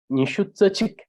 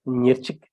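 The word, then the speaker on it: ཉེར་གཅིག: So nishu tsachik or nirchik. These are two ways of saying 21.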